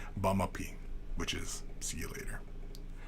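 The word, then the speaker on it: baamaapii: some Ojibwe, yeah, just bamapi. See you later. That's all that means. Bamapi. It's not, and if you say it like, you know, if you mispronounce it, it sounds like buy my pee, which, you know, I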